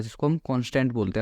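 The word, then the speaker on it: const: Similarly हमारे पास कॉन्स्ट होता है जिसको हम कॉन्स्टेंट बोलते हैं, अगर उसकी हम फुल फॉर्म देखें तो, बट जनरली हम उसको कॉन्स्ट प्रोनाउंस करते हैं और कॉन्स्ट ही हम उसको लिखते हैं इस तरीके से, कॉन्स्ट।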